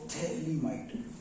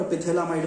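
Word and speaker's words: phthalimide: Gabriel थैलामाइड, P silent है यहां पर, पिथैलामाइड मत कर देना, गैब्रियल थैलामाइड रिएक्शन।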